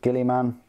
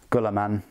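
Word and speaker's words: Guilliman: Ultramarines, the Sons of Gilliman. I pronounce it that way. You can pronounce it however you like. It's a made-up fantasy universe. Duncan in Games Workshop pronounces it Gulliman. So it's up to you.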